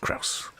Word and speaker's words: Krause: Says, just think of the famous grouse, except with a K. Krause.